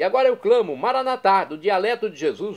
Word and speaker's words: Maranatá: E agora eu clamo, Maranatá, do dialeto de Jesus, o aramaico. Maranatá, com a tônica na última sílaba, como dizemos nós católicos, ou maranata, como dizem nossos irmãos das comunidades evangélicas ou protestantes, nossos irmãos separados.